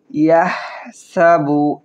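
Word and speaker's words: يَحْسَبُ: ইয়াহসাবু হা হলকের মধ্যখান থেকে উচ্চারণ করব। ইয়াহসাবু আন্না ওয়াজিব গুন্না, আন্না গুন্না করব।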